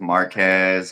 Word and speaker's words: Marques: lot of different pronunciations Marquez Marquez Marquez Marcus I mean it all the pronunciations I've heard them all what how do you say your name then uh Marcus is fine Marcus see this is